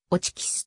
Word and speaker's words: Hotchkiss: 機関銃であるフランス語では叡智が発音されないため原音に忠実なに日本語表記はオチキスとなりホッチキスはこれを購入